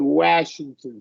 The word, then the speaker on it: Washington: A is like a kind of a, yeah, not After a lax. W, yeah, W, yeah. it is lax. Washington. After Washington, yeah. After Yeah, the W, Washington.